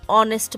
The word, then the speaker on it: honest: Here Geeta is an hour late, because an we are writing because H is silent. Mr. Sharma is an honest man, and we are writing because H is honest man, and we are writing because H is silent.